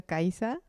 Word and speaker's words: Caiza: Why don't you jump in and say your name the way you pronounce it? Okay, Caiza. Caiza. Yeah.